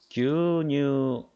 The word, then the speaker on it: 牛乳: 그래서 규뉴 같은 경우는 6글자지만 실제 발음은 4박자라는 거. 규뉴 牛乳 규뉴 4박자로 발음하죠. 규뉴 4박자죠.